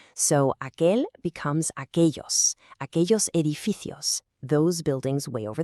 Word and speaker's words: aquellos: That double L sounds like a ya or soft J, depending on the region. So, aquel becomes aquellos edificios, those buildings way over there.